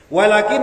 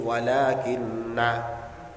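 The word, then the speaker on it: وَلَٰكِنَّ: Walakin lan tetapine bitasydid wa takhfif. Ana sing maca tasydid berarti walakinna. Ada yang membaca takhfif berarti walakin. Kalau kita membacanya yang diajarkan guru-guru kita napa? Walakinna.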